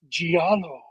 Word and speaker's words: giallo: I think it's pronounced giallo.